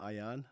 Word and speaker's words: Aayan: Nayaa is actually named after my 2-year-old son, Ayan. Yeah. His name is spelled Aayan. I just spelled it in reverse.